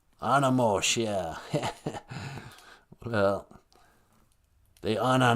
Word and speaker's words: animosh: you say dog in ojibwe uh we say animosh animosh yeah well they are not have come on